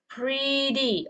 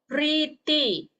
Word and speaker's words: pretty: So this is the way you guys pronounce it is pretty, okay? Instead of pretty, okay? Or pretty, okay? Not T, okay? It's D, okay?